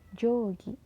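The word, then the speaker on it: 定規: u bertemu seperti kata penggaris bahasa Jepang itu Jogi jadi oya itu dibaca panjang Jogi kemudian juga ada k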